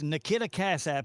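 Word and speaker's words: Nikita Casap: But, uh, Nikidia, I guess that's how you pronounce his name. Nikita, Cass, it's Nikita Cassap.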